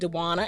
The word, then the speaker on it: Dewanna: And also, if you decide to order online, you can just use coupon code Dewana, and that's spelled DEWANNA.